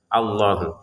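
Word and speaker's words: اللَّهُ: Kata Allah di sini untuk alifnya kita baca fathah ya karena memang di awal kata ya. Allahu. Kemudian lamnya kita panjangkan dua harakat.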